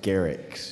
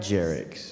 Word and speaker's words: Garrick: my name pronounced properly it's Garrick not jerck I apologize to you